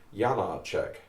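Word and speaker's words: Janáček: about janacek and he he immediately pronounced the name as jana czech and i said how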